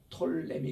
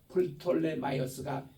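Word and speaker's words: Ptolemy: 이집트가 잡고 있으면서 이때 초대 왕이 누군가니 이게 풋램이이 피가 들어갔는데 톨램이 있는데 미국근에서는 피를 무음으로 칩니다. 그래서 그냥 톨름이라 그래요. 근데 헬라반는 우리 이럴 때는 프톨이라고 읽어야 돼요. 플톨레 마이어스가 이제 일세입니다.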